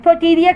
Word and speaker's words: Pouteria: तो इसका नाम है पटीरिया खाइमेटो, साइमेटो भी कहते हैं, खाइमेटो भी कहते हैं, प्रोटीरिया साइमेटो। अच्छा, इसकी स्पेलिंग मैं बताती हूँ, आप भी ज़रूर सर्च कीजिएगा इसको।